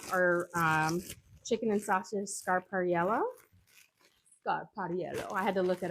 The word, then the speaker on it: Scarpariello: Scarpariello. I had to look it up to make sure I was pronouncing it perfectly, which I'm pretty sure I'm not.